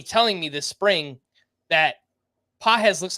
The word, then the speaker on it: Pages: and that's spelled p a GES but it's pronounced pz so for anyone uh wondering how toon pronounce